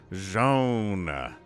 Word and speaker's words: Zoun: ourselves rainer bottom left we have joan which is how somebody told me he pronounces it but it's different from how tastosis pronounces it but i'm gonna go ahead and stick with zhaon all right all right